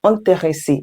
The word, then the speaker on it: intéressée: If you're a woman, use intéressé. Yes, same pronunciation, different spelling.